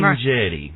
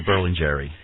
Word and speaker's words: Berlingieri: His name is Robbie Berlingieri, and you're going to have to pronounce that for me one more time. Berlingieri. Oh. But I'll make it a little bit easier. Berlingieri.